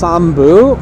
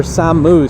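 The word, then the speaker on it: 山武: __ ] yeah sam it can either be pronounced sambu or sammu city which i thought that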